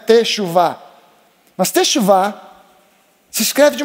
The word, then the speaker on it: teshuvah: E teshuvah é uma palavra interessante porque a gente fala, pelo menos em português, são três sílabas, né? Teshuvá.